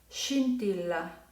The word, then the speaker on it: scintilla: Va a suavizar el sonido y entonces se pronunciará scendere, scintilla, scendere, scintilla.